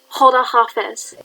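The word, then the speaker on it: خداحافظ: It's pronounced Hoda Hafiz.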